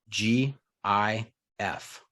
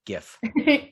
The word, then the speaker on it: GIF: final answer final answer gif with with the hard g gif yeah yeah is that